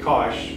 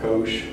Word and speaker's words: cosh: of like a book kosh of x or kosh some some may pronounce it with a long o but the cosh of x hyperbolic cosine